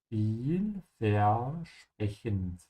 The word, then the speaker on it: Vielversprechend: Also remember that whenever the S comes before a P, the S is pronounced like sh. So sprech. Just like sprechen, yeah? Viel versprechen. And all the V's are pronounced like an F.